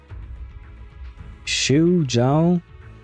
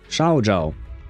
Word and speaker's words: Xiao Zhao: Shu Zhao? That's the closest I can get. Shu? I don't think it's supposed to be pronounced Shu. To me, it sounds more like Shao. Xiao Zhao, I think.